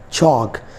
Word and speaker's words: chalk: For example, I have three words: walk, talk, chalk. L is between A and K, so that is why we are not pronouncing L here. L will be silent.